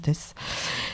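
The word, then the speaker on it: Theys: ça s'écrit Nino Nino et Tess ça s'écrit T H e y s non mais ça se prononce test c'est un du coup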